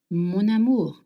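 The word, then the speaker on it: mon amour: Now if you want to call someone my love in French we link words together. So amu starts with a vowel and m ends with n. So you will link the words together. Monamour monu.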